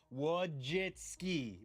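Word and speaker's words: Wojcicki: I had to literally write down phonetically wojitski before our interview that's how you say it isn't it I thought it was wojiski you're throwing a team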